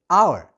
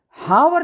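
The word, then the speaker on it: hour: For example आवर लेकिन spelling आपकी screen पर दिख रही है। एच ओ यू आर जिसको हम घंटा बोलते हैं। लेकिन उसमें हावर नहीं बोलते।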